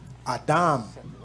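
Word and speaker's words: אדם: Adam. Let us make Adam. That's how it's pronounced.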